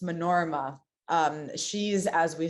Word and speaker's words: Manorama: Manorma. Manorma is the one that uses, it's spelled Manorama, but it's pronounced Manorma.